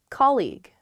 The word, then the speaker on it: colleague: colleague colleague yes colleague many of my students struggle with this they say colleague or they say call you or something because the spelling of this word is really really strange there's that g-u-e at